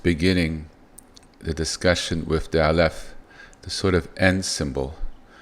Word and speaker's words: aleph: It has no sound. It's just the letter. It's a silent letter. It carries a lot of significance. Now of course when we name it we have to put sound to it otherwise how do we say the letter right? So that's why it has a name alf. However it doesn't have a sound.